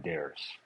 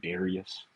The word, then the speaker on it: Darris: It'd be there's no you in Darris, and I say that because everybody calls me Darius, and my name's not Darius. Well, it rhymes with Harris.